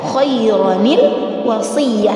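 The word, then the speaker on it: خَيْرًا الْوَصِيَّة: Cara membacanya adalah khairanil wasiyah.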